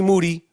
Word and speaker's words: Moody: And me and Moody, last name rhymes with duty, we ain't going anywhere.